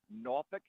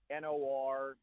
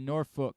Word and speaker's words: Norfolk: with the accent that will say it like Norfolk, like Nawfik. I say it more like Norfook, like Nor, and then rhymes with book. That's how I say it. Norfolk.